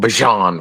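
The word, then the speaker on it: Bijan: you you hear with Bjan Robinson um Bjan Robinson the way he like to pronounce it but um he he I I love the offense.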